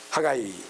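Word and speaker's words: Haggai: 학계, 하가이, 예. 잔치라는 뜻인데 그 다음에 이제 아까이오 뭐 이렇게 그 다음에 이제 하가이 이렇게 영어는 하가이라고 하가이 H-A 발음을 하는 것이 좋을 것 같아요.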